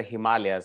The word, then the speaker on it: Himalayas: it's the house of snow and it's the himalayas and not the himalayas so before i talk about himalayan birds i